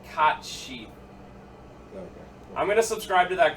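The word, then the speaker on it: Cait Sith: you actually say it it's that one like cot sheep I'm gonna subscribe to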